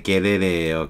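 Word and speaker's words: gerere: 서즈는 여기 뭐 자음 동화대 서브가 서즈 된 것 뿐이고, 제스트인데, 이거 라틴어에서는 원래 게레레예요, 게레레. 다 게르 발음을 하죠, 라틴어는. 게레레, 이렇게 되는 건데, 여러분이 이 단어는 잘 모르겠으면 쉬운 단어 하나 해볼까요?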